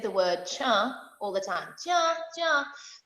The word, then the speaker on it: tcha: Kapri, you'll notice that we said the word cha all the time. Cha, cha, which they actually ended up writing. It's spelled TCHA.